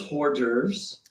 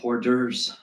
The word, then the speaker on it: hors d'oeuvres: I love hors d'oeuvres. It's pronounced hors d'oeuvres.